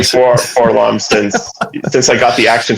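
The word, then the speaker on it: 4-LOM: No, it's 4LOM, and the reason why is you say things phonetically, like C3PO, so that people know how it's spelled.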